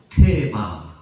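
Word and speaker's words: תבה: 놀랍게도 히브리어로 갈대 상자를 어떻게 우리가 발음하느냐면은 따라갑시다. 테바.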